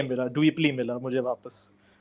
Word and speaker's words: Dweplea: Some people they have the order of the words wrong because they just see the handle name and they say Dweplea. So that's what they pronounce it as.